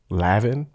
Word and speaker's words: Lanvin: Lavin. It's another one. I want to say they don't enunciate the end.